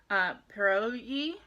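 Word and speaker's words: pirozhki: From pierogi, I think it's pierogi, even though it's spelled Pirojki. but I think pierogi is the correct, unless I'm mixing it up with something Polish or something.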